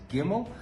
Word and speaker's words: Gimel: Today we are covering building block number three and that is the letter gimmel pronounced as gimmel.